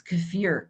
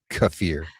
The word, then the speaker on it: kefir: Are you talking about kefir or kefir? Kefir. Well, Jerry says emphasis on the second syllable too.